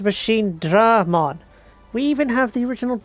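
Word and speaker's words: Machinedramon: There's only one E in the name, but you're pronouncing it as if it has two. It is Machine Dramon.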